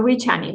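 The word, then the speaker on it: Říčany: So Richani, like if it were CH in Spanish.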